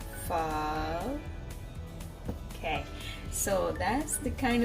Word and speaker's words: pho: soup is vietnamese soup we call it fall i'm practicing the pronunciation how the the japanese that sorry how the vietnamese people pronounce it so it says fall okay so that's the